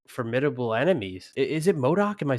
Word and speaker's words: MODOK: of the most like formidable enemies is it modok am I saying it right yeah you're right modok yeah you know what I mean because like